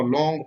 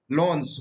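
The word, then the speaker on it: lawns: बहुत सारे लोग इसको लॉन्ग पढ़ते हैं, ये लॉन्ग सही उच्चारण इसका होता है लॉन्स।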